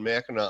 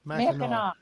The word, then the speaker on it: Mackinac: I think there's a couple on Mackinac Island in the limestone formations, but some of